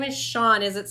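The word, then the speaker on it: Chun: my classes right now who spells it c h u n nuh-uh yeah yeah I I had to ask him how to pronounce it when I first saw it cuz I was like I don't know but it's Sean c c h u n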